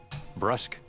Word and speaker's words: brusque: what it means but unsure of the pronunciation brusk Brusque so Brusly brusk brusk there we go Brusly don't be foolish